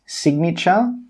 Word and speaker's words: signature: But there are always exceptions to the rule, and some common exceptions are the words signature and magnet. In these two words, we do pronounce the G sound.